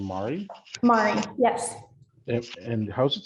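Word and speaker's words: Mairi: it in the right is your name Mari Mari yes and how's it spelled it's spelled a little bit different how does it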